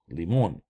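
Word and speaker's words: лимон: Okay, and then L E M O N, limon, limon. Okay, notice how the accent is on the O, therefore we say O, limon.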